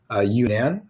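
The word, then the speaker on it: UNAN: get into the public medical school which is you nan which is spelled UN a.m.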